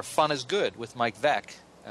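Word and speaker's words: Veeck: is good with Mike VEC uh of course you all Baseball fans know that that rhymes with wreck and uh he lives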